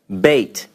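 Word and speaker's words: בית: Beit. And you'll see how I'm pronouncing these, and you'll be able to hear this.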